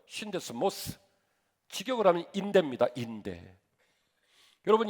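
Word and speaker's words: σύνδεσμος: 오늘 본문의 말씀이 평안에 매는 줄이라고 하는이 매는 줄은 헬라어로 데스모스라고 읽어요. 신데스모스.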